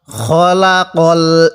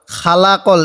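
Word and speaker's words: خَلَقَ: কুরআন এরকম ভাবে পড়বো খলাকল ইনসান কেউ খবর খা পড়বো না খালাকল এরকম ভাবে পড়বো না তাহলে কিভাবে পড়বো খলাকল খলাকল ইনসান এই নুনের মধ্যে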